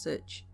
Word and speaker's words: such: to us around here the word such is sometimes pronounced sich one winter night when